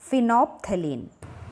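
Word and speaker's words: phenolphthalein: N fine of तालीन इसमें ल silent है डेट इस वही वे प्रोनाउंस आईटी इस फिनो तालीन आईटी इस एन सिंथेटिक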